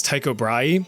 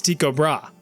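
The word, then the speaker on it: Tycho Brahe: this guy's name as Taiko Braay, but apparently the proper Danish pronunciation is Tiko Bra.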